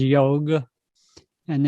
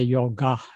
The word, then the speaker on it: yoga: that script which says yog and in english we say yoga we don't know how to say pronounce it it should be pronounced yog and tibetan translated that